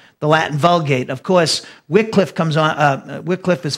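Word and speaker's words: Wycliffe: in America of course W Cliffe but I use the pronunciation that the Brits use I think and uh John Wickliffe is the morning star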